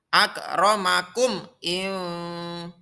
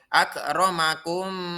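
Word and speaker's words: أكرمكم: Cara membacanya yaitu dibaca dengan jelas memnya. Akramakum Tidak boleh akramakum salah. Yang betul yaitu inna akramakum indallahi.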